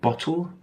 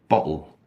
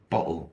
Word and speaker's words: bottle: so you can say bottle bottle so pronouncing the tea but most native English speakers don't pronounce the T whether it's American English